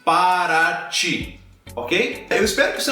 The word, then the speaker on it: Paraty: diretamente UTI como por exemplo na cidade de Paraty Paraty essa pronúncia do te acaba virando Tchan Como por